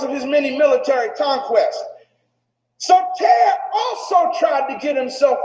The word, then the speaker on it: Soter: And Ptolemy the First, nicknamed Lagi or Lagi, assumed the throne, and his nickname was Soter. Everybody say Soter. You might want to write it down. It's spelled S-O-T-E-R.